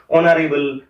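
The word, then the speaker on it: honorable: কিন্তু অপর দিক থেকে যে দুটো শব্দ আমি লিখলাম অনারেবল, আওয়ার, অনেস্ট, এই শব্দগুলোর এইচ এর উচ্চারণটা কিন্তু নীরব থাকে, আর সেই কারণে এখানে কিন্তু আপাতপক্ষে আমরা অ্যান ব্যবহার করব।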